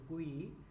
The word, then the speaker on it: GUI: Modern operating systems are a graphical user interface or GUI, pronounced GUI.